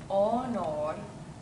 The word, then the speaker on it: honor: Salus honor. Salus honor. The H is silent always in Latin.